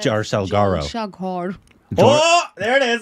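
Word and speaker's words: জলসাঘর: Well, in Bengali, you pronounce it as Jalsaghar. Oh, there it is. Jalsaghar.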